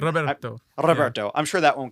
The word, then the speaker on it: Roberto: fun to be able to say Roberto to roll your R with his name. Roberto.